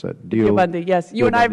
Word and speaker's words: Deobandi: Or how am I supposed to pronounce that? Deobandi, yes.